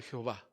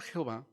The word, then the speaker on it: Jehová: Bueno, la palabra Jehová, simple y sencillamente, es el resultado de unir de una manera inadecuada las consonantes del nombre de Dios con las vocales hebreas del término Adonai.